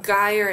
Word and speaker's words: gyre: the words pronounced um particularly with the hard g's on guyer and gimble with the slithy is